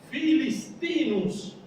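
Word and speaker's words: Philistinus: En latín, lo que se pronuncia como F en castellano, en latín se escribe PH.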